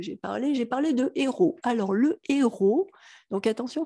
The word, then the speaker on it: héros: parlé j'ai parlé de héros alors le héros donc attention fait pas la liaison avec ce h là on dit pas un héros on nous dit pas des zéros on dit un héros des héros c'est un